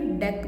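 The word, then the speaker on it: deque: तुम इनमें मत करने लग जाना, एन क्यू डी क्यू का तुम कन्फ्यूज हो जाओ।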